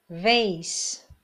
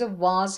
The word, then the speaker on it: vase: Number 27, vase. به گلدون میگن. البته تلفظ واز هم داره. حالا شما این تلفظ رو یاد بگیرید.